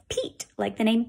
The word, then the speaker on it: Pete: So if this was pet, but we just changed that eh to a long sound, what's a long E say? E, like eagle. Read this word now. E. We just changed pet to Pete, like Pete the cat, by adding a silent, sneaky E.